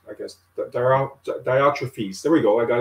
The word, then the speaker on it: Diotrephes: And I always get the guy's name wrong. It's Diotrephes, I guess. Diotrephes. There we go. I got it right. Diotrephes.